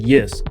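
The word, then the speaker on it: Й: And you remember it's pronounced E in Ukrainian, right? The happiest letter in the alphabet. It literally comes with a smile. It's pronounced Y. Y or Yot.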